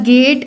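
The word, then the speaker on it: gait: तो गेट एंड गेट spelling अलग, pronunciation same.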